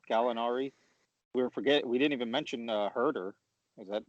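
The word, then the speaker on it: Huerter: Then if you have Bogdanovich off the bench with Gallinari, we didn't even mention Herder. Is that how you pronounce it? No, yeah, Kevin Werder.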